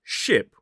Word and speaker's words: ship: The first word ship, which goes on water, has that short I vowel sound. Whereas the word sheep, which is the animal that goes, has the longer e sound.